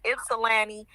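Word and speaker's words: Ypsilanti: And for those that don't know how to pronounce the name, it's Ipsy Lanni.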